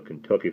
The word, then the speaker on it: Kentucky: and there for there, and pronounced Kentucky as if it was spelled and not as Sandy now did, as though the first three letters were K-I-N.